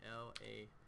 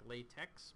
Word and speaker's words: LaTeX: mean how do you spell that well latex is spelled l-a-t-e-x looks like latex but it's pronounced latex with a c on